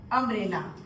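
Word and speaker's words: umbrella: है अम्ब्रेला, देखिए अम्ब्रेला, हालांकि ये है यू, यू, लेकिन यहाँ पे इसका प्रोनाउंसिएशन अम्ब्रेला है अ, और अ हिंदी में स्वर है, इसीलिए दिखने में भले ये यू है लेकिन इसका प्रोनाउंसिएशन अ आ रहा है और अ स्वर है,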